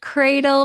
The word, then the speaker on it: CRDLE: Valerie, I want to make sure I am pronouncing your company name right. Is it CRDLE? Yes, it's cradle because Africa is the cradle of humanity.